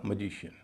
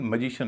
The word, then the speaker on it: magician: तो यहां आई से पहले जो सिलेबल है वह हल्का हो जाएगा और ए को बोला जाएगा अ ना कि ए या ऐका उच्चारण होगा मैजिशियन। मैजिक में मैं होता है उच्चारण ए का लेकिन मैजिशियन में अ उच्चारण हो रहा है। कारण मैंने आपको बताया स्ट्रेस का नियम।